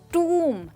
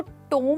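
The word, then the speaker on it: tomb: टूम। That's right दोस्तों, इसको टोम नहीं कहेंगे कोम की तरह, हम इसको टूम कहेंगे। और वंस अगेन दोस्तों, इसमें भी बी साइलेंट है और हम कहते हैं टूम।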